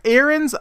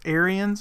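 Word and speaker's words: Ariens: in greenville tnc google it there's the iron aaron's icon well technically it's pronounced aryans because it is a i think they're from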